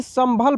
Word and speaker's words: संभल: ने लीला से संभल, देखिए यहाँ पे जो बिंदी है दोस्तों, इसका उच्चारण म के रूप में हो रहा है ना, जैसे कि मैं बताया